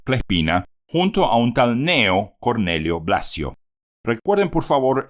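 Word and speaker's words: Cneo: junto a un tal Neo Cornelio blacio recuerden por favor ese nombre raro Neo que se escribe c n e o pero que esa letra c al comienzo no se lee Entonces si tenemos dos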